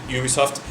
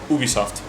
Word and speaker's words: Ubisoft: seconds we realized that Americans pronounce it Ubisoft and French prod it uh pronounce it Ubisoft and that was it